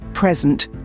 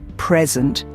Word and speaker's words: present: Consider the word present. When the stress is on the first syllable, present, it's a noun that means a gift. But when the stress is on the second syllable, present, it's a verb that means to give or show something.